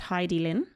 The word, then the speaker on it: Hidilyn: it for a start i think her name is actually pronounced heidi lin oh hi dylan i believe so hi